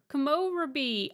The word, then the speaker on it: Komorebi: Komorebi. Mount Komorebi. That's where we're off. Yunu B, not Bay. You are saying A, not E. Oh, Komorebi.